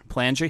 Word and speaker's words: Palangi: Palangi? Yeah. Okay. Yeah. How many times does your last name get butchered?